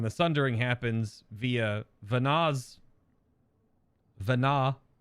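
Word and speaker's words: Venat: sundering happens via vanaz Vana it's hard to put a possessive on Vana when the t is silent right so that's that's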